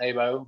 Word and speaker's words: HEYBO: some people call it HEYBO. It's pronounced HEYBO, but with HEYBO Outdoors.